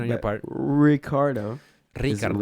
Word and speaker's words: Ricciardo: pronunciation on your part ricardo ricardo if you're gonna say in spanish you gotta roll yours ricardo yeah you don't say ricardo no rollyard you're gonna say it right ricardo yeah say it right